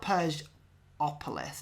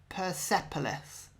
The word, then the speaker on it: Persepolis: say it but it's there's no u there's no o before the p so it's not purge opolis it's sort of persepolis it's going to annoy